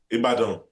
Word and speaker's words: Ibadan: Ibadan. All right. Agbowo. See, I'm giving you the pronunciations and the seasonings.